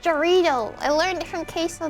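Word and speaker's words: Jarritos: It's pronounced Jarrito.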